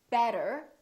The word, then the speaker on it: better: When the T is between two vowels, the T sounds more like a D sound, or what we call a very fast D. So, for example, when we say the word better, we have a vowel, T, and another vowel. This T changes and it becomes this fast D sound.